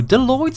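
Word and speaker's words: bdelloid: even done number two deloid Survive by stealing DNA from other species doids which the be is silent are microscopic organisms that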